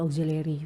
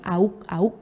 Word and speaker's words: auxiliary: Oke, ini bacanya bukan auk ya. Pakai O aja langsung.